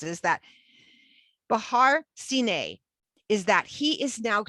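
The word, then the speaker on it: סיני: Give me a minute, I'll say it right. Sine, we have a Samak, a Nun, and a Yod for Sine.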